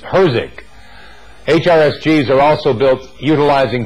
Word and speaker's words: HRSG: to as the boiler a common way of pronouncing HRSG is hosing HRSGs are also built